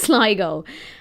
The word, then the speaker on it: Sligo: And also, it's not Sligo. It's Sligo.